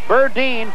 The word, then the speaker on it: Berdine: lead Ron berdine now his name looks like it's pronounced Burton but it's Burdine b-e-r-d-i-n he's been a